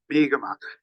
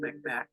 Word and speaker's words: Mi'kmaq: Mi'kmaq. That's the native pronunciation of the word Micmac. Micmac is the European version.